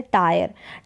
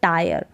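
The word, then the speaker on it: tire: अब यहाँ पर है जैसे टायर, टायर का मतलब यहाँ पर थका हुआ होना है, थक जाना मतलब टायर। तो यहाँ पर टायर, इसको टीयर करके या टीर करके नहीं पढ़ेंगे, टायर इसका उच्चारण है।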